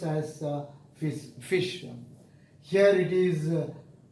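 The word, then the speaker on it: ghoti: wrong in your pronunciation this is not goaty but it is fish but it is fish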